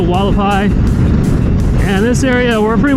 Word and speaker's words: Hualapai: you'd say Hualapai Mountains, how they pronounce it, even though it starts with an H. It's like H-U-A, but they pronounce it Hualapai.